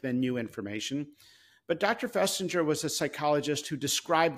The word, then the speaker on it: Festinger: public health today I'm not sure how you pronounce but Dr finger or Fest festinger yes Leon festinger you mention him with um praise but you